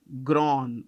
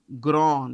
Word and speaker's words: Grand: I'm not this is gr how do you pronounce it grown it's a French word grown you pronounce it at grown okay yeah I